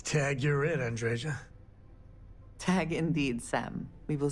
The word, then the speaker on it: Andreja: The J's are Y's.